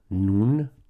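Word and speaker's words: νῦν: Then we have nun. Nun, it sounds like how you say the Hebrew letter n, right?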